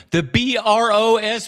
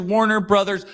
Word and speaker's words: Warner Bros.: The b r o s period, brothers. It's pronounced the brothers. Mario brothers, Warner brothers. They're not the bros.